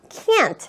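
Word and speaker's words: Chianti: 대부분은 여러분들 스스로 그리고 이 키안티 라는 단어를 발음할 때는 조금 더 키안티 라고 좀 입을 좀 좋지 짜 줘서 얘기를 하시구요 그리고 마지막에 티를 약하게 발음 해주시면 부정 의 의미로서 여러분들이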